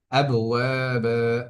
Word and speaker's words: أبوابا: আবওয়াবা, এখানে ওয়াবের মধ্যে এক আলিফ টান হচ্ছে হবে, এবং বায়ের মধ্যে এক আলিফ টান হবে।